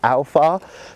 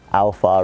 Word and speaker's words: Aofar: given by a company called Alpha that's the way that I'm going to pronounce it I think with me